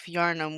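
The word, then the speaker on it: Yharnam: Uh, Shadow of Yarnum, which again is spelled weird.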